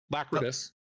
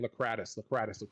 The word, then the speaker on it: Lacridus: the porch you see Lacridus. Say, tell us more. I'm trying not to mispronounce the name. I keep as I was typing it out and stuff, I kept saying Lacradus.